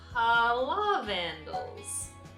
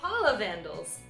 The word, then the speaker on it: Pahlavandles: I always mispronounce it. PAHLAVANDLES. There we go, maybe if I say it slow enough. PAHLAVANDLES.